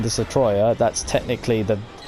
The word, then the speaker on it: Destoroyah: that's the way you say it in broken English in a certain sense. Although the actual American English translation was Destroyer, people prefer to say it like Destoroyah because it just sounds better, really, if you ask me.